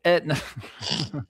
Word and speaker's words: Aetna: Well, let's go ahead and get So, uh, Etna. Is that how you say it? It's Etna the the insurance. Well, Etna, it is like Etna the insurance.